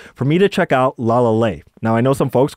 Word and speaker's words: LALAL.AI: Professor BX suggested for me to check out la la now I know some folks call it la. a but it's pronounced la la that's what they told me